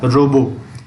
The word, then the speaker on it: robot: यहाँ पे टी को साइलेंट करके रोबो पढ़ते हैं। रोबोट हिंदी में बोल देते हैं, बट जब पढ़ते हैं तो रोबो पढ़ते हैं। ROBO को पढ़ते हैं, टी को छोड़ देते हैं।